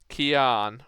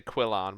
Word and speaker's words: Kian: Oh no, I was going to say it wrong then. Kian, but I was going to say Quillan, but it's not. Anarch. Oops, typing is hard. Because I was going to spell it with L's originally, but it's not. It's Kian.